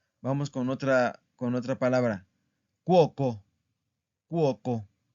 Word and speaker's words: cuoco: Cuoco. Cuoco es una palabra plana también, ¿verdad? Porque aquí está la sílaba tónica.